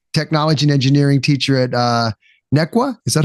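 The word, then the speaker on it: Neuqua: So you're a high school technology teacher, technology and engineering teacher at Nequa. Is that how I pronounce it?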